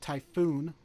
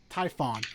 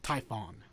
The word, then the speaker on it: Typhon: there's the witcher pride typhoon not to be confused with the 1990s movie twister hold on zero wishes i want to make sure you're pronouncing that right typhon fine typhon and then there's dracula's